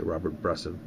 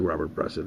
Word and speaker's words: Bresson: Somebody was mocking me that I used to say Robert Bresson, but it looks like Robert Bresson. Robert Bresson.